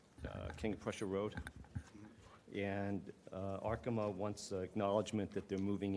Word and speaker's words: Arkema: Arkema.